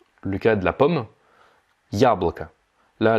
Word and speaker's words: яблоко: Si je prends maintenant le cas de la pomme, яблоко. Là, l'accent tonique, il est sur le ya.